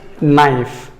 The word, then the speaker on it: knife: Knife, the letter K is silent.